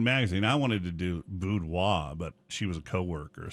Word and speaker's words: boudoir: I wanted to do boudoir, but she was a coworker, so Yeah, that sucked.